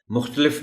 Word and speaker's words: مختلف: طرف نہیں، طرف۔ مختلف، یہاں تے پر زبر کو نمایاں کر کے پڑھنا پڑتا ہے، مختلف نہیں، مختلف۔ تجربات، یہ لفظ محترم